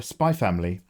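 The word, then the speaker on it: Spy x Family: X DD Hunter Hunter spy family you never the x is silent the x is silent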